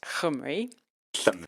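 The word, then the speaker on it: llymru: spell l l ym r u but it's pronounced hum and oh thank you thank you I'm going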